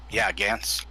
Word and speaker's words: Gantz: Gantz. Gantz? Is that what I heard? Yeah, Gantz. Gantz. Oh, Gant. That's easy to Benny, pronounce.